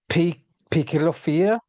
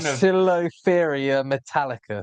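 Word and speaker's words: Poecilotheria metallica: How do you pronounce this one? Picilophyia? No, you should know that one. This This is the fun of Poecilophyria metallica. There we go.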